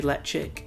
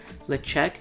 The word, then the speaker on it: Ledaig: I always say Ledaig and it's not the correct way to pronounce it. Ledaig, I believe, is the proper way, so it's going to